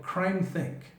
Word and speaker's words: CrimeThinc: sites like one called CrimeThink. CrimeThink. That's spelled CrimeThinc.